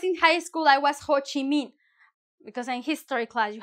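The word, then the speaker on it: Ho Chi Minh: When I was in high school, I was Ho Chi Min. Because in history class, you have to like pick a character and here and there. And I was ho and I pronounce the H, right?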